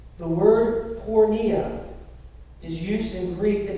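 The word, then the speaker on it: πορνεία: And the Greek word Paul uses here for sexually immoral, it's pronounced porneia. Now you all get one guess what English word we derive from that. Pornography. Like it or not, the word porneia is used in Greek to describe more than just sexual intercourse.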